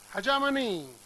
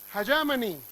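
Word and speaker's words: hegemony: Okay, हजामनी, हजामनी, क्या ये? क्या राइट प्रोनाउंसिएशन है? हजामनी, हजमनी नहीं, हजामनी का मीनिंग है प्रभुत्व, डोमिनेंस।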